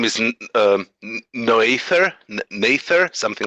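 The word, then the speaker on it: Noether: I forget her name her last name isn't no ether Mather something like that it's spelled noe th ER no ether oh just about you who figured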